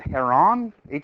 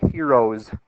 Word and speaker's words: Heron: mathematician that I'm gonna I believe you would pronounce it here on har o n but you know everybody gets to decide how to pronounce their own name so a lot of people are Americanized that to heroes héroes law and it goes like